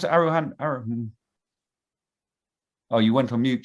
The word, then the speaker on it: aroha: I just want to say thank you and aroha nui. Pleasure. And you often use that Maori word, and it's excellent. How do you pronounce it? Aroha.